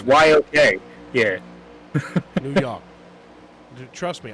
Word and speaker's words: New York: It's New York. It's just it's YOK.